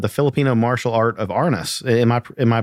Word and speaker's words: Arnis: And that book was actually dealing with you're a practitioner of the Filipino martial art of Arnis. Am I pronouncing that correct?